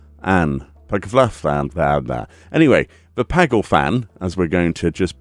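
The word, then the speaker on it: Paglth'an: to pronounce this the peg the pagle fan paglet and that anyway the pagle fan as we're going to just pretend we know what we're saying actually me only it's paglifan you know never mind powthon pylthon pylthon pylthon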